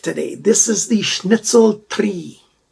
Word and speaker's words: Tri: this is the schnitzel tree i know when i did the unboxing called it try but in the esperanto language it is at least that's what the pronunciation guides say we've got a kydex